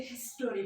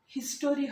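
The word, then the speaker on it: history: দুটোর স্টোরি British এবং American দুটো অ্যাকসেন্টই একই রকম, কিন্তু যদি স্টোরি বলা হয়, স্টোরির পরিবর্তে হিস্টোরি বলি। স্টোরি, এটা আবার উচ্চারণটা অ্যাকচুয়ালি ইংলিশে হিস্টোরি হবে না, হিস্ট্রি।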